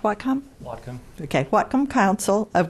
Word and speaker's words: Whatcom: Hugh Conroy is the project manager at the what com is it pronounced Wacom Whatcom okay welcome Council of governments in Bellingham